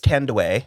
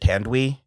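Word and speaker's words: Thandiwe: I think it's Tandway. Yeah, that sounds right. Because I pronounced it Tandwi, but then I found I couldn't find them saying it. Someone saying. But I found a song, and it's Tandway because apparently it's Zulu.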